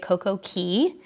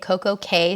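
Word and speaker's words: CocoCay: hard perfect day at coke okay sounds way more rhyming cool but the Bahamian people mm-hmm pronounce it key and so does Royal Caribbean what's up well I'm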